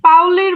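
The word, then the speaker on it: Pauli: পলির বর্জন নীতি মানে পলির বর্জন নীতি যেটা আর পাউলির বর্জন নীতি দুইটা একই না? আর বাংলায় শোনো, বাংলায় বলি পলি, ইংরেজিতে যখন আমরা উচ্চারণ করব সেটা হবে পাউলি। ক্লিয়ার?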